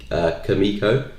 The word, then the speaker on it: Kumiko: No, my full name's actually Kumiko, Kumiko. It's actually Japanese, believe it or not. Yeah, my name's actually Japanese. I think it's pronounced Kumiko.